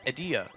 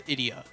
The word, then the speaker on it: Edea: Her name is pronounced as Edea. But in Bravely Second, they changed it to Idia.